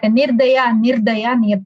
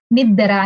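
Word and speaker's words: निर्दय: So what he tells is, instead of nirdaya, he says niddara, niddara, niddara.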